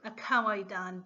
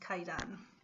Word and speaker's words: Kaidan: So, but anyways, the title kind of stuck, so it's still titled Kawaidan, but it's pronounced Kaidan.